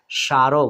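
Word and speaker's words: স্মারক: স্মরণ মানে মনে করা স্মৃতি সারক দেখুন এখানেও সয়ম রয়েছে এখানে বন্ধুরা ম ফলা কিন্তু উচ্চারিত হলো না তার মানে আমরা এখানে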